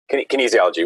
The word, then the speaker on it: kinesiology: at school, I'm assuming, with a major like kinesiology, huh? What's that all about? I don't even know how to say that word. Did I say it right? No. Kinesiology, which was just exercise physiology, right?